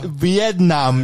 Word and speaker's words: Vietnam: 저도 이 영화 어렸을 때 처음 봤을 때 베트남이라고, 그러니까 우리는 베트남이라고 배우는데 비엔남 이러잖아요. 네. 저 원래 발음은 비엔남이구나.